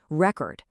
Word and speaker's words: record: When these words are nouns, the stress hits that first syllable. Record, desert, object. But watch what happens when they become verbs. The stress shifts to the second syllable.